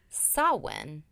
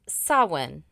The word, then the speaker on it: Samhain: It's actually pronounced Samhain. Oh, so I did it wrong. But you know what? I would have pronounced Samhain. It's Samhain. Samhain. Yeah. No, it's pronounced Samhain.